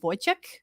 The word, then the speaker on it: Wojciech: Next, I would like to bring on our friend, and I'm going to pronounce this correctly, Wojciech.